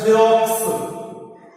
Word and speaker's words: Xerox: Next in the Xerox, the first X makes like Z.